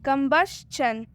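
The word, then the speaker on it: combustion: यहाँ पर एस के बाद TION है इसलिए टी का उच्चारण च हुआ है। मतलब कि TION को चन पढ़ेंगे। TION को अब हम सीधा चन पढ़ देंगे, कंबशन। आगे और भी एग्जाम्पल है।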